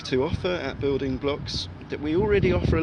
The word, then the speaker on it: Bloqs: middle of it so it's building as it sounds blocks is BL o q s comm and get in